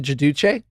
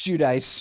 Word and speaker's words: Giudice: You with the terrible pronunciation. Judice. I don't think so. I think you're wrong, dude. Yeah, Teresa Gaduch. Gadouche. Hi, I'm Teresa Gadouche. Am I wrong? Yes, it's Judice. Teresa Judice. Yes.